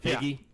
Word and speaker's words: Feige: It's a hard G. Is it a hard? Feige?